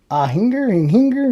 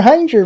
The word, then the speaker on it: Hinger: Hinger rhymes with danger. Okay, Hanger rhymes with danger.